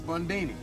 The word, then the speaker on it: Mundini: Mundini. Rhymes with Houdini, yeah, except that don't rhyme.